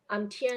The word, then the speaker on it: Tianwei: Hi, I'm Tianwei. Is that the right way to pronounce her name? Tianwei, Yes, right? that's correct.